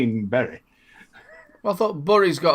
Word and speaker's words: Bury: You say it properly. The wonderful Salford Vapor would love you for that. It is Bury. Well, a lot of people call it Berry, don't they?